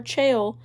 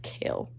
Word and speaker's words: Chaol: of them is more Chaol, and one of them is more, sorry, it's Kale. I know it's pronounced like Kale, but it's just Chaol in my head, okay?